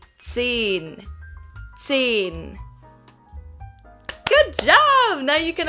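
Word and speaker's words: zehn: zed don't forget it whenever there is an h after a vowel in german any vowel the vowel becomes long so it's not sin here it's seen good job now you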